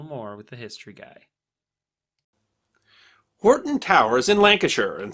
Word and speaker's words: Hoghton: The family first took the name Horton, spelled Hoghton, but pronounced Horton, in 1150.